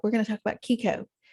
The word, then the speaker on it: CICO: We're going to talk about Kiko, not keto, Kiko, CICO or psycho. I mean, how do you say it? Kiko. CICO. It's calories in, calories out.